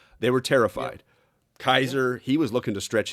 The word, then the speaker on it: Kaiser: Kaiser is Mm-hmm. what German's word for Caesar, right? That's how Yes. they pronounce Caesar, Kaiser. Um, the Persians, by the way, pronounce it Caesar. Caesar, by the way.